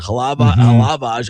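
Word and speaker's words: Hlavaj: The guy you're talking about is Samuel, I don't know how to pronounce it, Halavage. I know the J is silent probably.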